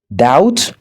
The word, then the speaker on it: doubt: Par exemple, la dette, doubt, le doute ou encore subtle qui signifie pas facilement.